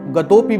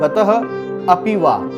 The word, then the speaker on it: गतोपि: देखिए, इसको आप गतोपि भी बोल सकते हैं, गतोपि, जैसे गतोपि खाली नहीं बोल के थोड़ा अटकना पड़ेगा, आपको अ का उच्चारण करना पड़ेगा, गतोपि वा। या आप इसे बोल सकते हैं गतः अपि वा, गतः अपि वा।